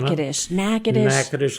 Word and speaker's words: Natchitoches: Natchitoches, Louisiana.